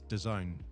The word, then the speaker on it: DAZN: people were like DAZN, and it's DAZN. That's what it's supposed to be like, as in the zone sort of thing.